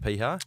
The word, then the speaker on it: Piha: gonna be a mirror Beach pronounced P huh yeah like what are